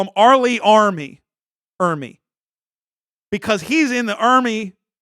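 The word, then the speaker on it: R. Lee Ermey: It's Arlie Ermy. That's what I said. Arlie Ermy. Not Arlie. No, not Early.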